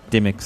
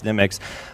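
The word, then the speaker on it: Dymocks: So you can purchase the book at, I pronounce it Dimox, but apparently... Dimmicks. Yeah, exactly. British people say it's Dimmicks.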